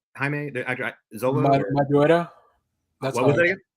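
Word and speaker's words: Maridueña: And we already know, like, how do you pronounce his name? Jaime Zola? Madureira.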